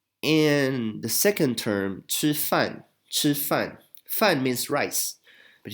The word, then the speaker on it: 吃: So basically we pronounce this sound in the same place as 知, but instead we have a little raised H here, which stands for aspiration.